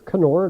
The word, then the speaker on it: Knorr: The first one, I'm using Knorr brand, or Knorr, depending on how you want to pronounce it.